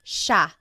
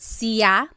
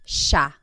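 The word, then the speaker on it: siya: It looks like it should be pronounced cia, but it's actually pronounced sha sha. There are some regions in the Philippines that might pronounce it sia, but for the most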